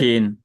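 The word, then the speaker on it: شين: ব্যাস, ঠিক আছে, জি, উচ্চারণটা হয় তালব্যস্যের মতো, শিন কি হয়, শিন, তে লেখা শিন, যায়, ইংরেজিতে এভাবে লেখা যায়, আর বাংলাতে তালব্যস্য শিন, শিন, শিন, শিন। তাহলে শিন, পার্থক্যটা কি? শিন, এটা এটা চিকন, এটা একটু মোটা, মোটা, তাই না?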